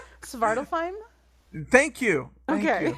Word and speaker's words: Svartalfheim: Zwart auf Helm. Did I say it right or did I butcher that? Well, what were you trying to say? Svartalfheim?